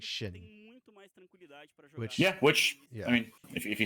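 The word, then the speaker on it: Xin Zhao: So like in Chinese, the XIN sounds like SIN. It would just be Sin. Which ironically was how people were pronouncing it prior. And then the ZH is Zhao. But then the creator of it said that he meant to pronounce it like Shin.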